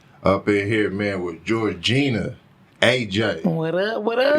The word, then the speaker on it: Georgina: Georgina, that's right.